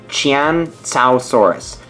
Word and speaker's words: Qianzhousaurus: what I discovered is basically you're supposed to pronounce it Chan Chow Saurus now the key is a you parents the